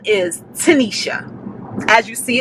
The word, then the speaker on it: Tinesha: guys as you all know my name is tanisha as you see it's spelled t-i-n-e-s-h-a that is my name that has